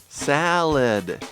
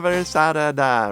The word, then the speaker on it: salad: Salad. Salad です。サラダって言わない Everyone say that in a loud voice. Okay, salad. Salad. It's never sarada, right? Salad.